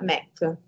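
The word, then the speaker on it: MEK: mujahedin del popolo e si si pronuncia mac più brevemente questo mac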